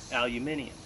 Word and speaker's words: aluminium: you're using you know aluminum or for you guys across the pond that don't know how to pronounce things aluminium but that makes a